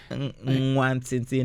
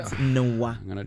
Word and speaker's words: Nwantiti: So the NW is like pronounced as Mwa. Mwa. Mwah. Nwantiti, not Nwa. Come on, Chris, don't destroy it. It's like Mwa.